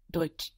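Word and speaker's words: Deutsch: D EU T C so EU in German gives us oi it gives us this oi sound if you hear people talking about the uro they would talk about the oo in German oo EU gives us oi and this TS c h all together just gives us chch dut which interestingly sounds a lot like the word dutch in English know and there is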